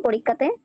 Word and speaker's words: পরীক্ষা: হ্যাঁ, একটু জুম করুন, একটু জুম করুন পরীক্ষাতে।